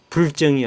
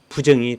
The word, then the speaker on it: 부정: 부로 발음한다고 돼 있습니다음 그래서 불정이 아니고 부정이 된 것입니다 자 이렇게 얘기하니까 어떤